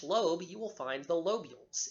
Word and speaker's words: lobules: tissue within each lobe you will find the lobules l OB u le s the lobules contain